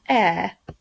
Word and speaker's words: heir: This week we're learning a new word, my turn, heir. Heir. That sounds a bit funny, doesn't it? We know some other words that sound like heir, but this one is spelled H-E-I-R.